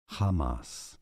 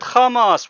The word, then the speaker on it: Hamas: Associated Press, CNN, many How do you say the name of this Palestinian Sunni Islamic organization militant group in Arabic it is pronounced as Hamas? Oh, look. He said Kamas. Wow, look at that. Oh my god. Didn't say Hamas.